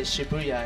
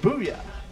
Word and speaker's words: Shibuya: Or you guys say Shibuya, I guess, is the proper gaijin pronunciation. That's the Western style. That's how Rip says it. Shibuya. Ooh. Shibuya.